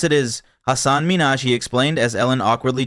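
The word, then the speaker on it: Hasan Minhaj: wasn't up for misinterpretation the real way you pronounce it is Hassan Minaj he explained as Ellen awkwardly tried to recover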